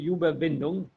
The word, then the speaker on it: Überwindung: Let me check that I pronounce it correctly so that you don't learn a wrong word. But it should be Überwindung.